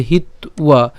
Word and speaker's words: হিত্বা: তাহলে স্বধর্মং কীর্তিঞ্চ হিত্বা, হিত্বা কেন, এখানে হিত আমরা যদি উচ্চারণ করি এখানে কি আছে আবার অন্তস্থ আছে, তাহলে তার উচ্চারণ কেমন হবে, উও হবে, তাই না। তাহলে হিত্বা, হিত্বা পাপম, এই পাপম ম পর্যন্ত উচ্চারণ করছি, পাপম, পাপম।